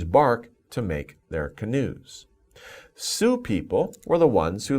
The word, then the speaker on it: Sioux: So Sioux people, but we pronounce it Sioux.